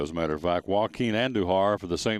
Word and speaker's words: Joaquin: a matter of fact joaquin and duhar for the saint louis cardinals spelled it the same way and so it was always phonetically w-a-h-k-e-e-n so hurricane joaquin may